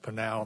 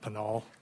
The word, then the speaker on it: Pinal: Because I do have a couple, but I'll give other than the fact that it's pronounced panal, not panol.